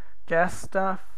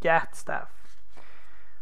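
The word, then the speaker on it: Gatstaff: even say it anymore gas staff Shepherd I think people used to say but it's Gat staff but give demon the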